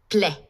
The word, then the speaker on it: plaît: S'il vous plaît. Note how A plus I sound. Plaît. And remember, the final consonant of a word is silent.